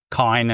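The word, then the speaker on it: Kain: So I played through with Kane Heinlein, or Kine as they're pronouncing it in this game.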